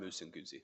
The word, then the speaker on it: Musinguzi: Did I say the name right? Yes, Your Honor. It's Martin Musinguzi. Okay, good.